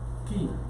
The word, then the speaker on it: chi: La letra ki en el griego es esta, que parece una X, y es la ki, y se escribe CHI, y de ahí viene la palabra Christos.